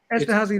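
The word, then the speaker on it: Esterházy: Esterhazy.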